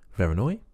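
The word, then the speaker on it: Voronoi: I looked that up it's not Vera noir I thought it was French but it's actually Russian and Vera Noi was his name the mathematician that came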